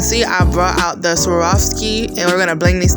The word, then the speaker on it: Swarovski: on y'all can see i brought out the swarovski and we're gonna bling these things out yes